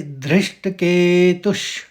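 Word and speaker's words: धृष्टकेतुः: इसका उच्चारण होगा धृष्ट फिर के त के ऊपर आघात है तो निकलेगा श का तो इसको पढ़ेंगे धृष्ट केतुष फिर च पूरा है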